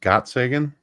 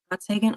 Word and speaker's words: Gottsagen: Zach Gotson, I think it's Gotskin, pronounced Gottsagen. Gottsagen.